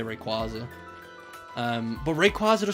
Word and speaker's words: Rayquaza: feel like it's probably a uk australian thing like people who speak like sort of like uk english and would probably call it rayquaza no rig rayquaza i'm starting to doubt myself i keep saying it wrong because i'm trying so hard not to say it wrong um yeah but i feel like english people well uk people australians probably new zealand as well would probably say ray quasar uh and everyone else